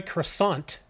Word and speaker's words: croissant: don't call her a croissant don't pronounce the T or she'll freak out